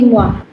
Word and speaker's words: moi: and Moti Et moi. et moi. So you've got ET ka sound, that's A, and OI ka sound, that's moi. Moi So it becomes moi.